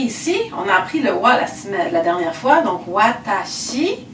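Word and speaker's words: は: Là, ici, vous voudriez bien sûr réutiliser le wa. Ce qui me permet de vous dire que cette particule de sujet a une façon particulière d'être écrite qui est ha. Donc, on écrit ha, mais on prononce wa.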